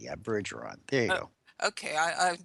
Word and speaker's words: Bergeron: Well, not to correct you, but it's Bergeron Bergeron. with a soft G. Yeah, Bergeron.